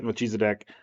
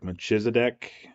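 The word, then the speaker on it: Melchizedek: say words sometimes um and I say machisa de there are a lot of other pronunciations like like machisa de um there's just a lot of different ones I just like no deck because it just rolls off your tongue that's why you wanted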